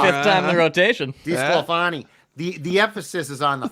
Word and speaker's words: DeSclafani: DeSclafani. Nope. Not DeScal. DeSclafani. Well, that's DeSclafani. You were close.